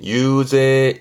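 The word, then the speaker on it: ゆうぜい: 발음이 어려워요. 유제입니다. 요게 특이합니다. 유제. 유제.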